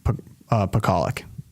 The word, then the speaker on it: Pakaluk: Her name is pronounced Pakaluk.